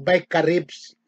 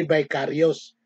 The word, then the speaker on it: Vicarius: Ngayon, kung bigkasin ko po yan, Vicaribs, hindi Vicarious.